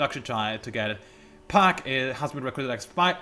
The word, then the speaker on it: Park: and by the way it's park not park there's no r in there it's just put it there by koreans to make it easier to remember it pronounced by for americans but originally it's pack with no r whatsoever just saying a little bit